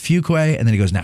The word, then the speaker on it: Fuqua: now say it he's he goes it's pronounced fuquay and then he goes